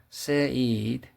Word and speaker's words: Said: Another example of Eurocentrism is a specific form of othering called Orientalism, analyzed by Edward Said, pronounced Said, which has been practiced in Europe, Britain, and America.